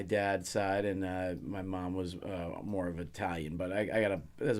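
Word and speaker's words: Wass: Was.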